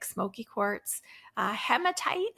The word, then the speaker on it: hematite: like Smokey quartz uh hematite is also great it's that red stone or hematite or hematite some people will pronounce it um it's it's red